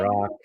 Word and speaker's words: Rak: remind you, my name is Dr. Rock, spelled R-A-K, pronounced R-O-C-K, and I am a lifestyle medicine physician.